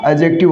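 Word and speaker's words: adjective: Correct pronunciation क्या होगा? एडजेक्टिव होगा। क्यों? क्योंकि डी के बाद में आपको जे मिले तब डी का उच्चारण नहीं होगा। साथियों। क्या होगा? डी के बाद में आपको अगर जे मिले तो डी क्या रहेगा? साइलेंट रहेगा।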